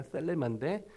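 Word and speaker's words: θέλημα: 헬라로키 세우라는 말인데 그 그 앞에 말이 그 번데기 발음이라 제가 그냥 쉽게 텔레마 하겠습니다 셀레마 텔레마 to 태 셀레마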